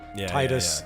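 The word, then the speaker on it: Tidus: heard tiffa and tia Titus tetus I think tetus is actually the cantic tetus is how they say it and I still say Titus because tetus sounds stupid it sounds weird yeah yeah uh fearing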